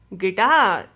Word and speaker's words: guitar: before a vowel okay am i pronouncing the u in this no i do not pronounce you you will be silent and pronouncing this word is gas guitar guard guest tongue leak